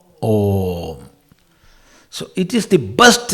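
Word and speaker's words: ॐ: A plus U equals O plus Ma, Om.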